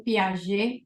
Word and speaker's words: Piaget: E o primeiro deles que eu trouxe aqui é o Jean Piaget, ou Piaget, como algumas pessoas pronunciam.